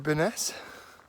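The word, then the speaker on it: Byrness: um bellingham just downed it there to baness i'm reliably informed that's how you pronounce best of those days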